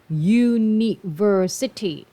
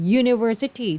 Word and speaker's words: university: ผิด นะ จ๊ะ เพราะ คำ นี้ อ่าน ว่า University ออก เสียง ย ยักษ์ นะ คะ University ถือ ว่า เป็น การ